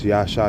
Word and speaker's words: Yasha: means my but it it's pronounced yeah so it's yahsha ya all right um